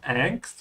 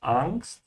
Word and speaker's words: Angst: Die Angst, make sure to pronounce it with an open "a" in German. It's not Angst, it's Angst.